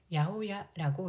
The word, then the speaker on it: 八百屋: 네 번째로 보이는 건물은 805기라는 한자를 써서 야오야라고 읽습니다.